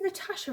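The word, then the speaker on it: Natassia: It's spelled with double S-I-A rather than S-H-A. And they were like, oh, it is Natasha, isn't it? That is how you say it.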